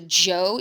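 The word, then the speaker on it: Zhou: discussion then we're going to move towards the Joe even though it says the H it's actually pronounced like a.j the Joe dynasty which lasted for a significantly longer period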